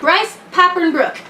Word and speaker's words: Bryce Papenbrook: Bryce Papenbrook.